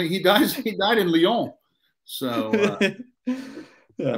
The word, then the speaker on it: Lyon: dies he died in lyon so yeah i bet you didn't know it's pronounced leon no no no no